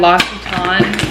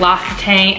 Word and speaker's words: L'Occitane: And then I got another package from the brand L'Occitane. I'm finally saying it right. I usually called it L'Occitane. Like I literally never knew how to pronounce it.